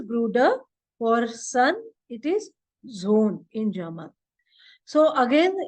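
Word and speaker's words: Sohn: for sun it is Zone in German so again here the H is silent so it is pronounced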